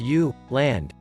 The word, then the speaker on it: Jylland: The western part of Denmark is the peninsula of Jutland, Danish, Jylland, pronounced U, land, bordering Germany.